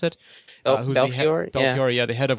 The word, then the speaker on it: Belfiore: Nokia, and Jim Belfiore, is that how you pronounce it? Belfiore?